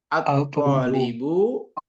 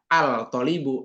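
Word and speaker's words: الطالب: Jadi at-tolibu, tidak al-tolibu, enggak, tapi at-tolibu.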